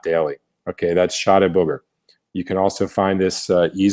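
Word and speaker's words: Chá de Bugre: This one's pronounced Shade Booger, and it's a real, supplement.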